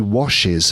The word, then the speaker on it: washes: But sometimes the S has needs. It wants more room. It wants to be heard. It needs an extra syllable.